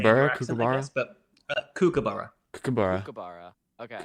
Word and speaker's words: kookaburra: Kookaburra. But Kookaburra. Kookaburra. Okay. But I say borough. You would say bureau, right? I don't think so. Kookaburra.